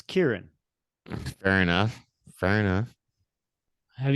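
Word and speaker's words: Ciarán: scene Ariane Hines it's Syrian Syrian I've done I've never actually seen his name in print no it I mean if you're gonna say it the way it's spelled it's crn but it's Kieran fair enough fair enough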